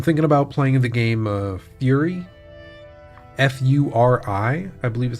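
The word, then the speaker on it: Furi: I'm thinking about playing the game Fury. F-U-R-I, I believe is how it's spelled.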